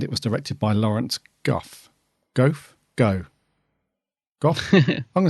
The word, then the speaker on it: Gough: And it was written by the Moff, and it was directed by Lawrence Goff. Goff? Go. Goff? I'm going to say that as it's spelled. I'm going to say Goff.